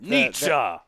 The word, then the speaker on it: Nietzsche: Nietzsche, like Friedrich Nietzsche, my favorite philosopher.